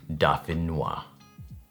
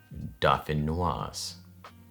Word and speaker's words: dauphinoise: This is vegan garlic and herb potato gratin, aka Dauphinoise or Dauphinoise. Hold on. Okay, Dauphinoise is like the French version of how to say this dish with 87% accuracy.